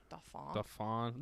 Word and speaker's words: Dauphin: The Dauphin, is it Dauphin or Faune? Dauphin. Dauphin. I'm not French. It's spelled like dolphin almost, but without the L.